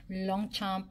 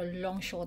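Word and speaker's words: Longchamp: Long chomp. Long chomp or long show. Pero long show daw ang pronunciation nito.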